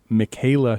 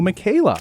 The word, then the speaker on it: Michaela: Like Michael with an A, I say. Has that always been a trouble at the doctor's office? Problem. Yep. Always a problem everywhere. And that name now Michaela is more popular.